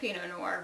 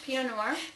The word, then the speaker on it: Pinot Noir: out this wine um I've gotten to like Pinot Noir recently because it's a very easy drinking wine